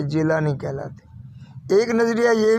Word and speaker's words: جیلانی: वहां पैदा हुए तो अरबी में गाफ नहीं है उसकी जगह व जीम प्रोनाउंस करते हैं जीम बोलते हैं तो जब यह गिलानी अरब में गए तो वह जिलानी हो गए तो खैर ये जुज